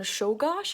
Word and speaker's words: Czolgosz: The assassin's name is Leon Czolgosz, and I'm very proud of myself for being able to pronounce that Polish last name.